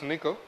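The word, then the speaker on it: N1QL: differentiator is Miko so it's been pronounced as nickel but it's written as n 1 ql this first normal form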